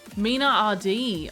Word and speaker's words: Menard: Menard is pronounced Mina RD.